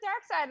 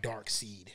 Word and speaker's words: Darkseid: it around because remember it's spelt like dark seed yeah yeah but it's still it's dark side so i'm going to